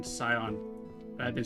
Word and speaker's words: Scion: Scion see you guys can't hear Malish cat but um she's telling me that the sea is silent and in sion but I've been saying it wrong this entire time.